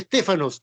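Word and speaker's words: στέφανος: Pero hay otra palabra más que es estépanos, con PH, estéfano, de ahí donde viene Estefanía. Estépanos, con PH, de ahí donde viene, se pronuncia Estéfanos, donde viene Estefanía.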